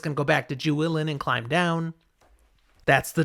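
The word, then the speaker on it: Juilin: I always say Jewelin. I feel like it's Julin, not like Jewelin.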